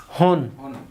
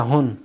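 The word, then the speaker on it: 本: তাহলে কিউ হন, উচ্চারণ একটাই, হন। শুধু হন মানে বই, শুধু হন মানে কি, আবার যখন সংখ্যার সাথে হন থাকবে তখন হচ্ছে পিস, কিউ হন মানে 9টি, 9 পিস। আর যখন নিয়ের সাথে থাকবে নি হন, তার মানে জাপান। তাহলে এটার উচ্চারণ সবসময় হনই হবে।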